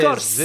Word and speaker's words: Scorsese: pas écrire Scorsese et on sait même pas prononcer son nom parce que c'est Scorsese.